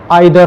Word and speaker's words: either: अब सुनो, मैं आपको पहले एक कॉन्सेप्ट बताना चाह रहा हूँ जिसको बोलते हैं आइदर और या ईदर और, जो भी प्रोनाउंस करो।